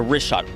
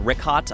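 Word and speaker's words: Richat: Yeah, the rishot. R I C H A T. It's worth mentioning here in the first couple E uh I just want to say it's Rishot. I used to call it Rickot.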